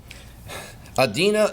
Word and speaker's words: Adina: Adina, it rhymes with Athena.